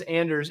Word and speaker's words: Anders: And everybody, I'm saying his name as Anders, and he was very gracious to me when we were before we started and said, well, that's how you say it in English. So I guess I'm okay, but if he says German, Norwegian, he lets me say it in a way that works for English speakers.